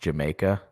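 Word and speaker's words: D'yer Mak'er: I think it's spelled like, you know how Led Zeppelin had Dire Maker, but it was like pronounced Jamaica?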